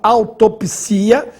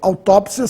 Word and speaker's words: autópsia: agora se separarmos silabicamente a palavra autopsia sem acento siia forma um iato e nesse caso não teria acento pessoal é bom que vocês saibem que os dicionários registram as duas formas com acento autópsia sem acento autopsia eu prefiro autópsia por ser a forma mais usada atualmente biópsia e biopsia mesma